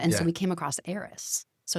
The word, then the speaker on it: Aeris: talking about it, and Aris as in like spelled HEIR. Okay. Yeah, right. Yeah. So an heir to something. Yeah. Right. And then air AIR. Yeah. Is in the pronunciation.